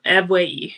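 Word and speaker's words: Ebuehi: Uh, and I believe it was pronounced e ebui. Got a little nervous. Eue is how you pronounce it.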